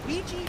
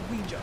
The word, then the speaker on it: Ouija: A note on pronunciation either ouiji or ouija is acceptable.